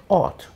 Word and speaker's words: ought: We say ought. Ought. Ought. It's that OR sound again.